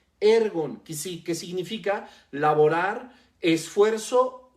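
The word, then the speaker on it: ἔργον: en este versículo viene del original griego ergon así como se escucha ergon con acento en la primera e ergon que significa laborar esfuerzo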